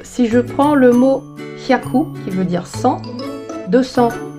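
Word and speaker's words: 百: quelques éléments de précision, en l'occurrence sur la prononciation. Par exemple, si je prends le mot hyaku, qui veut dire 100, 200 ni hyaku, par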